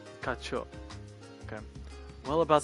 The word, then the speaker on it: 課長: 課長 Kacho. それなんですが I said Kachan, like it's Bakugo from MHA. What? Kacho.